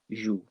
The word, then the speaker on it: joues: And notice how I'm pronouncing that. Tu joues. It's the same as with the E. Okay, so we don't change our pronunciation. It's a bit like my rule that we hardly ever pronounce that last letter in French. So je joue, tu joues. They sound the same, but they are spelt differently, so be careful with that.